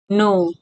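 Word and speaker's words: know: एन के think जानो नो के एन ओ डब्ल्यू नो इस्मा प के साइलेंट हु्छ तले के एन ओ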